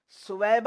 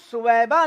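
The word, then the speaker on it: ثویبہ: ایک لونڈی تھی کنیز، سویبہ اس کا نام تھا، صوبیہ عموماً لوگ کہتے ہیں لیکن صوبیہ تلفظ غلط ہے، صحیح جو تلفظ ہے وہ ہے سویبہ۔ تو سویبہ جو اس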